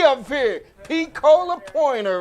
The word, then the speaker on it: P-Cola: P-Cola, thanks. Long E. P-Cola? No, long E. P-Cola. P-Cola. Yeah. P-Cola. Yep. That's how you say it.